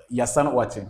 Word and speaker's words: Yassan Ouatching: Pronounce the name. Yassan Ouatching.